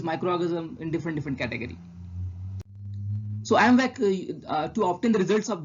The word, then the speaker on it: IMViC: So I is just for easy for pronunciation. Just to make it proper pronunciation, we use this AMVAC test. We pronounce as a AMVAC test.